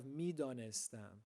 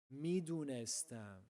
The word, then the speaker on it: میدانستم: And last but not least, we have midanestam, which means I knew. Just like biyam, this is the formal pronunciation of the word. If we were speaking informally, we would say midunestam.